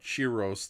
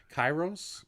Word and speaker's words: Kairos: the MonsterVerse version of Chiros, the demon Chiros from the Canadian Kong animated series, or some nonsense like that. Kairos? Yeah, Kairos. That's the way you're supposed to say his name.